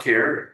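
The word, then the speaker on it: Kjar: Um, my name is Care. It's spelled KJ A R. It's a Danish origin.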